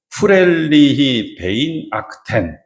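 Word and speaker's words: Fröhliche Weihnachten: 프렐리히 베인 아크텐. 이 독일어는 특징이 뭐냐면 맨 마지막 발음할 때 침이 잠깐 탁 하고 튀어나와야 돼.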